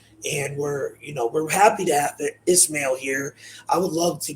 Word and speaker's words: Ismael: But we have a special guest today, Ismael, and it's pronounced Ismael, not Ishmael. So in my intro, I kind of pronounced it a little off.